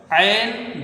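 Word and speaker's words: عين: इसको बच्चे क्या करते हैं? इसको हा पढ़ देते हैं। लेकिन ये ऐन रहती है।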